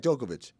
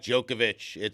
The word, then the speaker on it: Djokovic: Even though it ends with a C, we say Novak Djokovic.